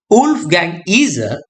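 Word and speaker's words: Wolfgang Iser: a reader and according to Wolf Gang eer pronunciation Wolf Gang eer uh German literary scholar and theorist known for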